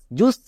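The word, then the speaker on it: just: এর জন্য হস্তুকার হই তাহলে জে ইউ এস জুস কিন্তু এটা ভুল লোকে এখানেই ভুল করে এটার উচ্চারণ হবে জে ইউ এস জাস কারণ আমি বলেছিলাম ইউ এর পাশে যদি দুটো কনসোনেন্ট থাকে তখন ইউ এর জন্য আই হয় এখানে দেখো এস এবং টি দুটো কনসোনেন্ট তাই ইউ এর জন্য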